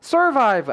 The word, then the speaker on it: survive: 보실 수가 있을 거예요 포인트는 강세 강세가 뒤에 있다는 거 잊지 말아 주세요 survive입니다 survive 아니에요 survive 강세 아